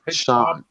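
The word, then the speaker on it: Sian: what's up busy her name her name is pronounced Sean I keep forgetting Sean what's up Sean you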